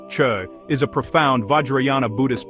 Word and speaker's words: Chöd: Chud Tibetan gcod pronounced chud is a profound vajriana Buddhist practice from Tibetan traditions literally meaning to cut or sever.